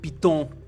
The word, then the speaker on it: piton: People can pronounce it however they want. But yeah, it's Piton.